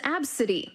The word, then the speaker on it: Abcde: This is Absidy, but her name is spelled A-B-C-D-E.